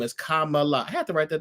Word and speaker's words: Kamala: how you say her name her name is Kamala I have to write that down because I'm